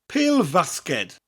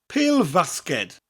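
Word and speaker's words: pêl-fasged: at the end basket but it mutates after Pele Pele Vasquez Pele Vasquez basketball so we have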